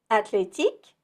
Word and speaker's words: athlétique: One thing you may have noticed is how the TH in athlétique sounds like the T in Atlanta. We'll spell it with the TH, but the H is undercover, seen and not heard.